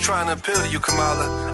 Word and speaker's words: Kamala: to appeal to you Cala I know it's pronounced KLA trust me I have